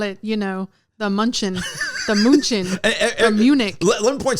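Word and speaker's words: München: I mean, that's how they say it though, Munchen. Yeah, Munchen.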